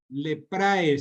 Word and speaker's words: leprae: Leprae se escribe. La terminación AE se pronuncia como E.